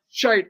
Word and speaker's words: shite: I said hashtag shite. That's how the British say shit. Yeah. Shite as opposed to white.